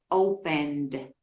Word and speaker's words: opened: El verbo abrir, se pronuncia como una D, opened, ¿sí?